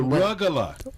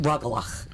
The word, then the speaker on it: rugelach: cookies, maroons, and the rugala. No, let me say it. It's Okay. rugelach. Because last week you sound like the Cookie Monster. How am I saying it wrong? Rugala, rugala. It's rugelach.